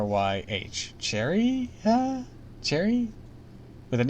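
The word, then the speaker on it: Cherryh: e r r YH Cherry Cherry with an H just Cherry with an with an extra H at the end I should that's weird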